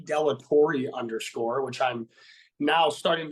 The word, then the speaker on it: De La Torre: pronouncing your name wrong so it's De la Torre oh yeah did you say galatore yeah most uh 99.9 of the people say Bellator so don't even the